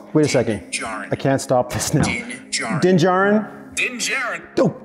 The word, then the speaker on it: Din Djarin: Siri, how do you say Din Djarin?